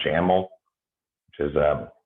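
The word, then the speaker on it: XAML: anymore in c sharp we use one called jammel which is uh it's spelled x-a-m-m-l but it has that ml at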